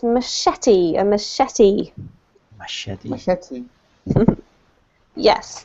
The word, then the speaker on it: machete: villagers the placing of a rock or a machete good on a branch tells an entire story